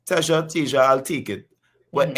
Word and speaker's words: Teja: Am I pronouncing your name correctly, Teja?